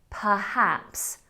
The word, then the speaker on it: perhaps: Words that start with PER or PRE can often be confused, and it's the word perhaps. Perhaps. Now, as a child, I only ever heard perhaps, perhaps. So I was saying PRE. It was only through really learning to spell this word that I realised I was mispronouncing it.